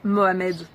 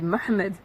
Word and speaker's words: M'hamed: me disait par exemple moi je m'appelle mohamed mohamed ben non c'est m'hamed alors je pense pas